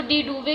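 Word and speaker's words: de Duve: तो डी ड्यूफ था, डी ड्यूफ, इसको डी डूवे करके भी पढ़ सकते हैं, डी डूवे करके भी पढ़ सकते हैं, अपनी प्रोनाउंसिएशन होती है नेम की।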